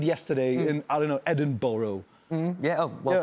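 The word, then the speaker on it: Edinburgh: what you did yesterday in I don't know Edinboro yeah well pronounced yeah very well yeah of course yeah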